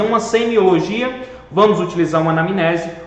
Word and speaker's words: anamnese: o termo anamnese e é assim mesmo que se escreve mn juntos tá e o som fica anamnese e aí por definição